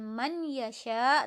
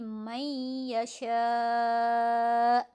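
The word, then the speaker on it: من يشاء: ini melebur ke ya bacanya bukan man yesha tapi meisya kemudian muhammad zulfikar wuh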